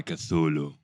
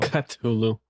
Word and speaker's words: Cthulhu: Oh, actually, we're gonna pronounce Cthulhu with a K. So Cthulhu.